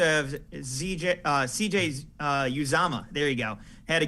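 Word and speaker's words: Uzomah: that they also have zj uh cj's uh uzama there you go had to get the pronunciation right but you know he's been able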